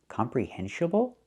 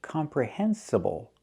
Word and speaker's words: comprehensible: The word is not pronounced comprehensible input. It's not pronounced comprehensible input. Comprehensiable. It should be comprehensible.